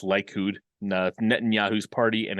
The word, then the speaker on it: Likud: A note on, I believe that's pronounced Likud, Netanyahu's party and its connection to revisionist Zionism. Likud, meaning the Consolidation Party, is an extreme right-wing party that has its roots in revisionist Zionism.